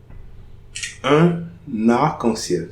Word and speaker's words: un arc-en-ciel: So, example, un arc-en-ciel. So, ici, here, there is a liaison. I'm pronouncing that liaison.